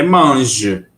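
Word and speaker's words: mange: G G manj Ok com e no final a gente pronuncia esse e do final não a gente vai até o g tá bem a gente não pronuncia ele gem apesar de escrevê-lo Mas a gente não pronuncia gem e se se for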